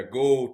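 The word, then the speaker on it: Geaux: they say that right I know it's spelled GE Au X but they say gold right yeah gold Tigers gold how you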